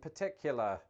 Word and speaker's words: particular: linguistic structures that's why some Americans might also dissimilate the first R in words like Governor berserk and particular moving forward the governor